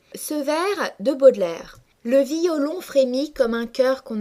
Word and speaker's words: violon: afflige le terme violon se prononce dans la vie courante en deux syllabes violon mais dans ce poème pour respecter l'alexandrin c'est-à-dire pour respecter le verre de 12 syllabes le lecteur est obligé de prononcer distinctement les deux voyelles de la première syllabe c'est-à-dire qu'il est obligé de prononcer violon et non violon ce verre se prononce